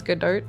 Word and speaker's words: Godot: He says Godot. Rhymes with vote.